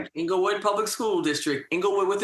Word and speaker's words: Englewood: Club podcast series we have the superintendent of Anglewood Public Schools. Did I pronounce that right? Inglewood public school district.